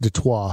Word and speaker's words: Detroit: like how you know it's french it is like chris benoit that's right yeah chris